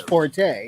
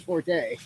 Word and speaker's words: forte: And he's like, it's actually pronounced fort, but everyone says forte.